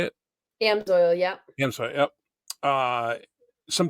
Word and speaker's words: Amsoil: And then upcoming this year, is it AMSO? Is that how you say it? Amsoil, yeah.